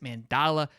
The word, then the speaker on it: Mandala: to our Georgia insider, Mr. Mandala. Is it Dala? I messed it up again. Yeah. You said it right the first two times. Mandala. Yep. All right, we're cool. All right, A lot of people don't get that though the first try.